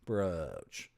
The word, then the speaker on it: brooch: One rhymes with coach, roach, poach. And one rhymes with pooch, smooch, hooch.